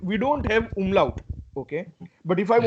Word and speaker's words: umlaut: Okay, as you can see, those 2 dots, and these 2 dots they are called Umlaut. umlaut. Exactly, exactly, and that's exactly how it is pronounced in German.